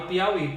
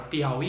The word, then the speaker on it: Piauí: Só que na palavra Piauí eu tenho um falso hiato. Porque o que acontece? Ali é uma vogal que é pronunciada, mas não escrita, por isso que é falso hiato.